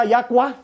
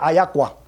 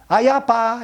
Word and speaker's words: ayapa: Y se pronuncia ayacua. ¿Por qué? Porque aquí vemos que la P con la A sería cua. Entonces la pronunciación correcta sería ayacua.